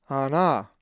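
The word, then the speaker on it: ἀνά: The accent is over the second alpha, ana.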